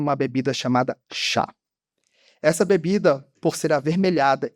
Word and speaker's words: chá: Diferente dos nossos colegas ibéricos que utilizam a pronúncia T, oriunda da região de Fudien, no sul da China, inglês T, T, T, todos francês, italiano, todos, mais, nós falantes da língua de Camões mantivemos a forma chá.